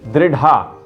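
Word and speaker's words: दृढा: पृथ्वी नहीं, पृथ्वी, पृथ्वी, पृथ्वी दृढ़ा, उसको बोल देते हैं दृढ़ा, दृढ़ा, दृढ़ा। येन द्यौरुग्रा पृथ्वी च दृढ़ा येन स्वः स्थवितम येन नाकः यो अंतरिक्षे रजसो विमानः कस्मै देवाय हविषा विधेम। तो ये उच्चारण पर भी ध्यान देना चाहिए।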